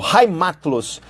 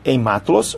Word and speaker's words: heimatlos: Apátridas ou heimatlos. Eu sei que se escreve heimatlos, mas essa pronúncia é do alemão.